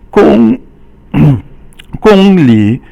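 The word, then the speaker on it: 公里: 公里 Gong is first tone and li is third tone, and that means kilometer.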